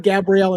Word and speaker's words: Gabrielle: I was going to ask you, did he say Gabriel or Gabrielle? It sounds like Gabrielle, and she pronounces it Gabrielle.